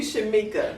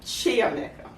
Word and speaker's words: Chiameka: We've been calling you Shamika. Yes. And your name is actually Chiameka.